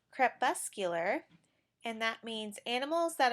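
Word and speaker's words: crepuscular: right before I started this video in its CREP bus cooler and that means animals that are more active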